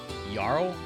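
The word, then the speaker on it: jarl: the Yaro and Skyrim how they pronounce that yarl like a with a Y I think I it's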